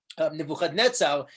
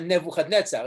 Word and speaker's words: Nebuchadnezzar: So for example, Nebuchadnezzar is actually Nabuchaduri Usur. It's not Nebuchadnezzar, it's Nabuchaduri, like Nebuchadrezzar. You actually have it pronounced like that in Yirmiyahu.